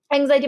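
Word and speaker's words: anxiety: তো এক্স এর উচ্চারণ আসলে যে কি হয়, বর্গীয় জ হয় নাকি এস হয় নাকি কি হয়, এক্স দিয়ে অনেক কিছু উচ্চারণ করা যায়, তো এখানে জয়ের উচ্চারণ হবে।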